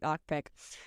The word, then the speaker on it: Okpik: It's pronounced Ukpik, but you read it like Okpik.